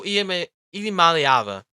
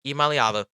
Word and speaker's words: Iamaleava: But the Tennessee, if Nico Iamaleava, that's how you pronounce that, Iamaleava, had stayed at Tennessee, they wouldn't be going out and trying to get a new quarterback.